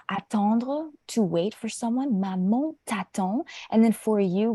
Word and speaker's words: maman: So, par exemple, for example, le mot maman, répétez s'il vous plaît, maman. Maman. Maman, oui. So, the A-N, ça se prononce comme on, maman.